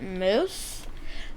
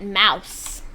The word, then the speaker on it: mousse: on was the chocolate mousse. And when he came back, that was right when I said it, but I did not know how to say it, so I said chocolate mouse.